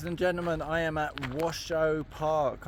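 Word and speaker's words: Washoe: gentlemen I am at Washo Park I'm pretty sure that's not how that's not how it's pronounced uh w a s h o e Washo maybe and uh behind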